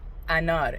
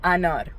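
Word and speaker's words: انار: Anor. A n a r is how you would pronounce it. Anor.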